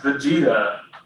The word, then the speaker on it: Vegeta: I'm really really yeah it's actually pronounced Vegeta it's based off of the Dragon Ball Z character so scroll down here's